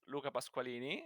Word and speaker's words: Luca Pasqualini: i'm from italy uh my name is luca pasqualini so i can help everyone for the pronunciation of these and i actually didn't